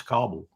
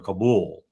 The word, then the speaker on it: Kabul: He didn't even know how to pronounce Kabul, or Kabul, as most people say. I think most people in the region call it Kabul.